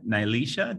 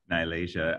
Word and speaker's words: Malaysia: you peter and uh nyelesha did i pronounce that correctly probably not it's nailed asia malaysia uh go ahead ask